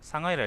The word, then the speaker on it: 상하이: 왜 음, 고유명사는 또 그 현지 발음을 읽는다는 그 유형주의 원칙이 있지 않았어요? 상하이라 읽어야지 그러면.